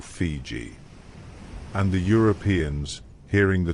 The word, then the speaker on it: Fiji: The Tongans pronounced Viti in their own way, closer to Fiji or Fiji.